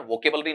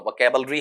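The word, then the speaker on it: vocabulary: इसका उच्चारण वोकैबलरी नहीं होता। वोकैबलरी है और साथ में ऑल द अबव मतलब सारे हो सकते हैं क्या?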